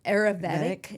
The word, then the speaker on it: Ayurvedic: Ayurvedic.